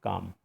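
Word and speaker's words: calm: वही हो जाएगा, क्योंकि इसमें एल का प्रोनाउंसिएशन हम नहीं करते हैं, ये होता है काम। इसका जो प्रोनाउंसिएशन होता है काम, CAAM, ठीक है। एल साइलेंट हो जाता है।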